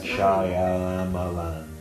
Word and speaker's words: Shyamalan: It's spelled like Shyamalan, but pronounced Shyamalan.